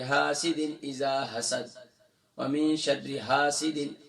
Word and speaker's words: حاسد: وَمِن شَرِّ حَاسِدٍ، ہا نہیں ہے، ہا ہے، اور پھر شین کے بعد را مشدد ہے.